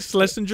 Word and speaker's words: Schlesinger: Schlesinger?